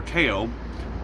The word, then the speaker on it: Theo: mental incapacities was dependent on his younger brother teo pronounced it it's spelled theo but it's pronounced tail